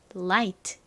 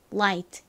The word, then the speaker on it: light: 주시면 발음이 어떻게 되나요 light 됩니다를 발음하는 혀를 앞니 뒤쪽에 붙혔다가 떼면서 르 light light 이렇게 발음해 주셔야 하죠 자